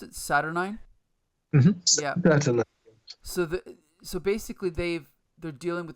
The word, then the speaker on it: Saturnine: So we open up with Captain Britain and how do you pronounce it? Saturnine? Mm-hmm. Yeah. Saturnine.